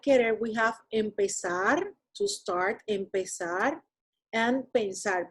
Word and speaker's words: empezar: So that's why, because we say empezar, we don't say empezar, we say empezar, even though the accent of that word resides over that sar syllable, okay, within the stem, the one that has more strength, it's pez, or pez.